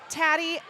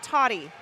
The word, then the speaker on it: Tatty: Tatty, not Toddy. I feel like the last time I got a pronunciation sheet, it said Toddy.